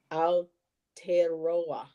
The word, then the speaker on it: Aotearoa: Okay, so it's pronounced whoop, Aotearoa. Aotearoa.